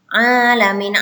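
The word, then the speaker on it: الْعَالَمِينَ: Alamin A-nya panjang, Mi-nya juga panjang, mata PI ya.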